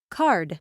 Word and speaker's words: card: course card when you have the voiced d at the end the vowel is longer cart card card it's the second